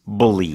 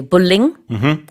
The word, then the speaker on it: bullying: And let's talk about the way you say this, because it's a 3-syllable word, It not is. a 2-syllable word. Yes. In Korean, a lot of people say bullying. That is not the way you say it.